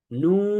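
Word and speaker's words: نون: এই মিম এবং নুন, এই দুইটা হরফও 3 আলিফ করে উচ্চারণ, 3 আলিফ টেনে পড়তে হয়। তাহলে আমরা বলি মিম, নুন।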